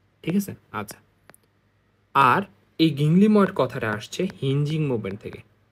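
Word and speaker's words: ginglymoid: সেটা হচ্ছে জিং গিংলিময়েড জয়েন্ট, একটা হচ্ছে এটার উচ্চারণটা হবে গিংলিময়েড জয়েন্ট, আরেকটা নামকরণ হচ্ছে গিংলিমো আর্থ্রোডিয়াল জয়েন্ট।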